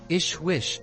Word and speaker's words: JHWH: JHWH, pronounced Ishwish, is a rank and means translated into terrestrial languages, King of Wisdom.